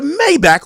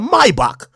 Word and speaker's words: Maybach: because you got a Maybach or let me say it correctly a my box and you got a